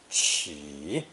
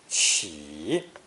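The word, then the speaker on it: 乞: It's pronounced third tone, qi, qi.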